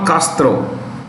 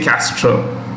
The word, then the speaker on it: Castro: a spanish theme so when you pronounce spanish names you need to suppress a in the mouth you don't say castro we say castro pure english castro is the right way raul castro has confirmed